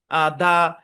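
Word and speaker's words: the: তো এটা মনে রাখতে হবে যে শব্দের শুরুতে ভাওয়াল থাকলে তার আগে এটার উচ্চারণটা দি হবে, দি।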